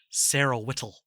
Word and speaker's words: Whittle: name is sarah whittle or as robin williams pronounces it sarah whittle very very sharp t when he pronounces it yeah so cut to